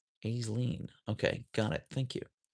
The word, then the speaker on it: Aisling: Pronounce pronounce the S long A. Aisling? Aisleen? Aisleen.